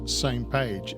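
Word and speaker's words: SMPAG: how to uh to pronounce This Acronym it's pronounced same page s m p a same page oh how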